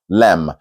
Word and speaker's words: lamb: out a bit more lamb in fact the B is silent so you just go lamb as you can see in the oral um spelling oral English spelling it's just l-a-m Lam okay no B and